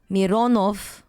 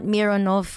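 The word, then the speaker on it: Миронов: Nikulin and Mironov. Not Mironov or Mironov.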